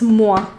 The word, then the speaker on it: Moa: Somebody corrected me that it's not Moe, it's Moa.